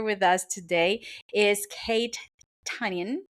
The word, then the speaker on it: Tynan: Is Kate Tynan, right? Did I say it right? No. Yeah, Kate almost. Tynan.